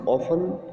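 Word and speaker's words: often: His listeners were ऑफन confused, student ये word ऑफन है जिसमें टी साइलेंट है, जिसका मतलब होता है प्राय।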